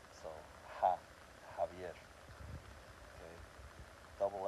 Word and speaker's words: Javier: The next letter would be the J, which is like a H sound. Javier. So Javier.